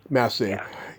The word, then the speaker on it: Massey: So I know that, Laurel, how you pronounce her last name, Laurel Massey. Yeah. Massey.